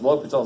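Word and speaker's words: L'Hôpital: Because L'Hopital's like, I don't know what's going to happen now. Yes? So when bouncing it, the H and S is silent, right?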